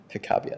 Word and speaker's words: Picabia: So Francis Picabia, Ava, how do you pronounce that last one? Picabia, there we go.